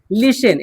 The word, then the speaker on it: listen: ठीक है, लिशन, LISTEN, देखिए यहाँ पे टी क्या है, साइलेंट है, LIS ऐसे बोलिए, LISEN, लिशन।